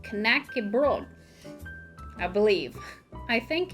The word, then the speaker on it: knäckebröd: that it's not pronounced nokia broad it's pronounced connected i believe i think in dialects they leave the d off completely and it's just like